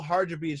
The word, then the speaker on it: Hadribeaj: past guests to the show adrian the eagle harja beach how you doing brother man i hope i didn't butcher the name too bad no man you said